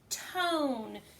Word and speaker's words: tone: not a word so we see this e at the end and we know that it is not making a sound because it's a vowel consonant silent E and we're gonna coat